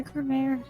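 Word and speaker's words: Gramarye: Yeah, Cremere. Apparently, that's how they pronounced it in the audio of Spirit of Justice, anyway.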